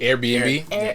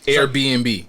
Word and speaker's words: Airbnb: Airbnb. How do you say it? Airbnb. So it's like Air. Airbnb. It's like almost like two separate.